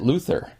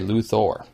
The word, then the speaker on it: Luthor: metropolis by the way this person pronounces it Luther and so that is probably Lex's own preferred pronunciation even though some other characters in the movie say luor Lex gets a strong